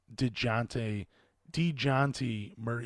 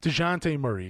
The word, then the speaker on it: DeJounte Murray: on one of my last episodes, and that's DeJounte Murray. Wow, I keep saying his name wrong. DeJounte Murray, excuse me.